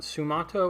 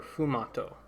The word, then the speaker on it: sfumato: I'm pretty sure the S is silent, or maybe the F is silent. Sfumato or fumato. Sfumato. Okay, so it's neither.